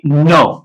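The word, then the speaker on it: know: आप देख सकते हो के नो तो यहां पर के एन का कॉमिनेशन है तो के जो है वो साइलेंट है और नट ये भी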